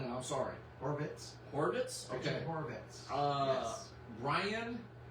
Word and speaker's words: Horvitz: Thomasite Richard Hornsit. I probably pronounced that wrong and I'm sorry. Horvitz.